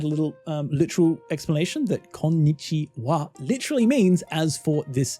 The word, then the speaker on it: こんにちは: Personally, I would add a little literal explanation that konnichiwa literally means as for this day. That's why it's hello, and that's also why it's pronounced as wa instead of ha.